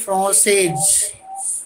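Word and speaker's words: française: Pronunciation is जैसे इल ए फ्रांसे ही is French, ill ए फ्रांसेज सी is French, right. This one इज फ्रांसे with E फ्रांसेज see here F आर ई एन सी This one is Francais.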